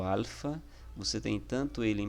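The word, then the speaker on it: ἄλφα: e a pronúncia né igual ele tem a mesma pronúncia do ar em nosso português como por exemplo na palavra amor tá então o alfa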